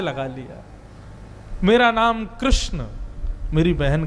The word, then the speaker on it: कृष्ण: वो अपराध है, परंतु बंधुओं कृष्णा नाम द्रौपदी का है, भगवान का नाम कृष्ण है।